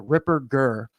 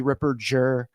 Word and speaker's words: Ripperger: strong German name father Ripper G you know a a hard G not a soft G Ripper Jer and you know it's